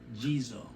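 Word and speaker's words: Ghezo: the king that's portrayed in the movie king jesus might mispronounce it g-h-e-z-o he is even in the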